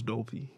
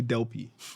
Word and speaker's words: Dolpey: So, he did not know how to pronounce Dolpey. He would call me Delpy.